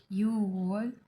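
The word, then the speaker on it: 유월: अभी यहाँ देखिए 6 को हम युग कहते हैं, बट यहाँ पर एक यूज हम बोलेंगे यू वॉल, चील वॉल, फाल वॉल, खू वॉल, शी वॉल, CIBIL वॉल, सीबी वॉल।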